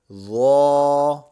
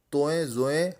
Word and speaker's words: ظا: تو ظا تو ظا۔ آپ نے اس سے اردو لہجے سے بچنا ہے، توئیں زوئیں ہرگز نہیں پڑھنا، اسے تو اور ظا پڑھنا ہے۔ آئیے اب ہم پچھلے